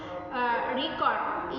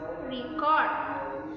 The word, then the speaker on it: record: Stress on the first syllable record is noun, and the second is record. Stress on the second syllable means the record verb.